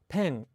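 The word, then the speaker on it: ペン: So in Japanese, pen, you don't exhale nearly as much in Japanese in the P at the beginning of pen compared to in English.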